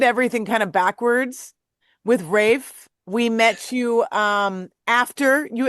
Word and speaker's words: Raph: We have the infamous Raph of Rafe. Rafe. Rafe. I was calling you Raph forever.